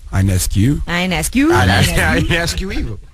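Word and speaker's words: Ionescu: It's Inescu. Inescues. I ask you evil. It's spelled I O N E S U. I'm just uh imagining the O is silent.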